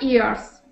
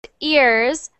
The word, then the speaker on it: years: 35 years. So- 45 years. So not ears, but years.